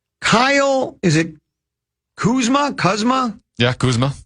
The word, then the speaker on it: Kuzma: Yeah, Kuzma. Kuzma is how you say it.